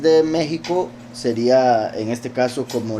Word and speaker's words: México: Egipto si es que la x en realidad se pronuncia como j o sea en español La x como México Exacto igual que sucede con México verdad que como he